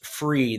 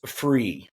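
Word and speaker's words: Frueh: called operator syndrome by Dr Chris free that's how you pronounce that I even asked him Dr Chris free what he did is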